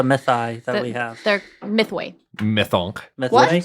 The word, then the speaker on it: Mythoi: They're Mythway. Mythonk. Mythway? What did you say? Yeah, Mythway. Myth the Way? Mythway. MYTHOI.